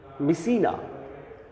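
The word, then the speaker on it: Mycenae: ইউরিস্থিয়াস the king of মিসিনা, উচ্চারণটা ধরতে পেরেছ আশা করছি। মিসিনা, ইউরিস্থিয়াস the king of মিসিনা অ্যান্ড his cousin.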